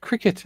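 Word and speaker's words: Cricut: The company have said it's pronounced cricket after its themed branding.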